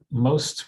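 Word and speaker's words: MOxST: oxygen separation technologies inc uh most with a silent x and the joke was the silent x as in bordeaux it was a terrible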